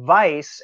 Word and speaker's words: Weiss: an understanding German beer so vice as it's spelled on this bottle here W E is s that means white and